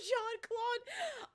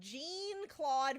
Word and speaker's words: Jean-Claude: murphy was a kid they didn't know how to pronounce jean-claude van damme's name because it looks like gene instead of john because you know he's